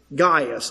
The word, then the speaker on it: Gaius: His name was Gaius, as he pronounced it.